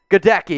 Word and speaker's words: Goedeke: And I already forget how to pronounce his name. Goedeke, yeah.